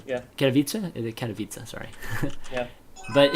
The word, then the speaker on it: Katowice: guys had about the 100K world champion in Katowice. That's how you pronounce it, right? And Katowice, yeah. Katowice, sorry.